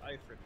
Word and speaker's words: Ifrit: It's pronounced Ifrit, Kyle.